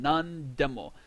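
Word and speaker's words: なんでも: once again nani, nan, but because we have a de directly after it, we have another word directly after it. It's just pronounced nan. Nandemo.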